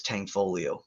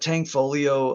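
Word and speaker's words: Tanfoglio: that's super underrated is tankfolio it's spelled Tang foglio but tangfolio uh pistols are super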